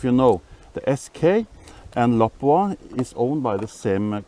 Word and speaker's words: Lapua: Or Lapua, as you Americans say. I guess the Finnish people are saying Lapua.